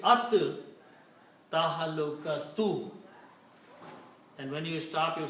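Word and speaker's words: التهلكة: like for at-teen, al-teen, but we don't pronounce lam, we pronounce ra ta 2 times. Al-teen is actually at-teen. Same thing here. So it will be at tahalukatu.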